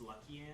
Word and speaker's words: Lucian: Sion, Katarina, and Lucian. Lucian? Man, I am just off on pronouncing characters' names today. Lucian. It's Luckian. Luckian.